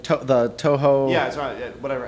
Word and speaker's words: Touhou: 16 bullet hell games yeah um like the touhou yeah whatever how you pronounce it t-a-t-o-u-h-o-u is how it's spelled they're